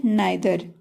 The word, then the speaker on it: neither: ऐसी कौन सी word meaning है जिसमें सॉरी ई आई का उच्चारण आई ए और ए की ध्वनि में होगा? तो फर्स्ट है नाइदर, नाइदर, NEITHER, ई के बाद आई आ रहा